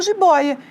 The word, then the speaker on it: jiboia: Mesma coisa com jiboia. Jiboia, né? Eu tenho ali a separação e a sílaba tônica é aqui, ó.